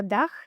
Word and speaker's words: Liichtebuerger Daag: It's called Liichtebuerger Daag, or Daag, or Daach in the Greiweldenger.